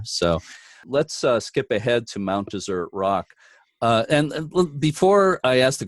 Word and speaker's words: Mount Desert: Isaiah yeah yeah so I tend to say dessert based on the traditional pronunciation but let will go